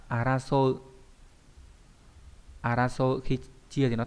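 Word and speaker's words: 争う: Đây là chữ tranh, đọc là araso.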